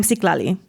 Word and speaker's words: Siklali: Seek, like you're in search of treasure. La, like you're gonna love me. And Lee, like, please don't leave the chat yet. Or Bruce Lee. Whichever comes off the least desperate or crazy.